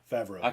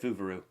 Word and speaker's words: Favreau: That's how you pronounce his last name? Yeah, Favreau. I said Fuvuru.